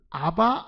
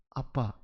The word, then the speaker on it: 아빠: 발음대로 뭐로 해놓은 겁니까 아빠 이렇게 한 거예요 공교롭게 우리말의 아빠라는 말이나 아람의 아빠가 똑같은 발음인 거예요 지금 그래서 아바 그